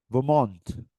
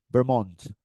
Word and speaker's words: Vermont: Vermont. Yep. El estrés va en la última sílaba. Vermont. O Vermont. See, it's like a French.